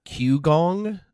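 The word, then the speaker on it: qigong: gonna butcher it uh q gong i believe is how you pronounce it it's q-i-g-o-n-g anyhow that's not important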